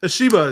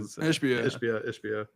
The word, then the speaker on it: Ishbia: So Suns, Ishiba is just, if that's even how you pronounce his name. Ishbia.